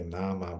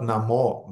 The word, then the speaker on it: nama: Mahaprasada Govinda Nama Brahmani Vaishnavi. Okay, Shidam knows, Baladeva knows. Very good. Who else I see? Not many devotees. Anyway, by the way, it's not Namo Brahmani Vaishnavi, as devotees are pronouncing.